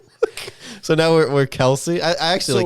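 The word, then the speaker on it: Kelce: Chiefs said, you know, it's not even pronounced uh Kelsey and then I think they had the father on the podcast and they said it it's actually pronounced supposedly it's it's pronounced Kelse.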